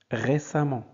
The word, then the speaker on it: récemment: supprime im on et on ajoute amant ça se prononce amant donc récemment si l'adjectif se termine